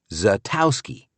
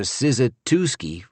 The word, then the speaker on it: Szatowski: If you've got any Polish blood, you know the S is silent and it's pronounced Zatowski.